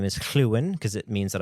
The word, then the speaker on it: Llywyn: And I love that his name is Llywyn because it means that I get to say Llywyn with the the Welsh pronunciation because Lorwyn is very Britannic inspired, Celtic inspired.